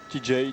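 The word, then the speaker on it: Tejay: TJ Varderine TJ TJ TJ oui on pronce à l'américaine.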